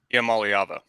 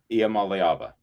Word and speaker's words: Iamaleava: Iamaleava. Iamaleava.